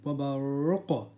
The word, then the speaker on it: وَبَرْقٌ: So now the qa has a sukun, which is a qalqala letter. We do an echo sound at the end. وَبَرْقٌ.